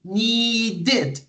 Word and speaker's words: needed: makes me happy need when you have that verb it ends in the D sound so the E is pronounced with an extra syllable need needed need it okay okay